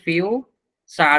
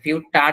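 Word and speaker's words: future: এইজন্য দেখেন এই জায়গাটায় ফিউ চার উচ্চারণ করা হচ্ছে ফিউটার কিন্তু না বা ফিউ থার্ড এমন কিছুই না এটার উচ্চারণ হচ্ছে ফিউচার চর উচ্চারণ হচ্ছে এই জায়গাটায়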